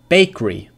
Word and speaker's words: bakery: Bakery. Bakery. Bakery. Two syllables.